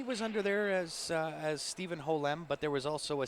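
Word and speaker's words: Ho Lem: His last name is spelled H-O space L-E-M. So it's actually two words in his last name, Ho-Lem.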